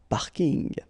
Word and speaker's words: parking: from English but still you should pronounce it the French Way parking in plus the packing